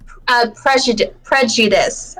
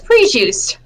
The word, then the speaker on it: prejudice: But ever since, there's one word that I always say wrong, and it was prejudice. I mispronounced it twice, multiple times as prejuiced.